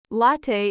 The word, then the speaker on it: latte: Latte is pronounced like l a h t, not lat or lat.